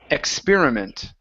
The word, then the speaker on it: experiment: this is experiment so our stress is right here instead of experiment experiment experiment M good one